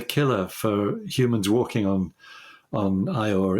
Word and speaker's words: Io: I think what would be the killer for humans walking on Io, or Io as it's sometimes pronounced, is the radiation, because it's got this